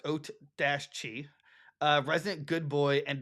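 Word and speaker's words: Oatchi: too uh Ochi and it pronounced oat Dash Chi uh resident good boy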